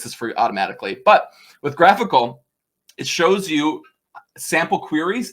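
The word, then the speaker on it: GraphiQL: it's something called graphical everyone mispronounces this it's graphical not graphy ql like a graphical unit interface get it y'all um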